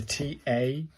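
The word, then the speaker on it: た: The TA like TA in target.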